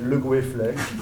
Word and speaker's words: Le Goueflet: Mon nom, c'est Le Goueflet. Je vous l'écris peut-être? Non? Bon. Comme ça se prononce, le goût et un flec. Le goût comme le goût et le flec comme un flec.